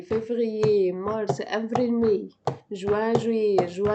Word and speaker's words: février: janvier, février, mars, avril, mai, juin, juillet, juin, juillet, juin, juillet, juin, juillet.